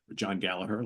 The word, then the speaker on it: Gallagher: in the band going forward but we got John Gallagher John gallager let's say it correctly on Bas and vocals